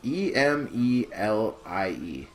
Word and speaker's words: Emelie: I don't know if it's pronounced Amelie or Emily. It's Emelie.